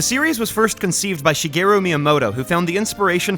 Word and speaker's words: Shigeru: I just gotta clarify, I don't pronounce Japanese names or words with a Japanese accent, you know? Like, I say Shigeru, not Shigeru. Why? Because I'm not speaking Japanese, I'm speaking English!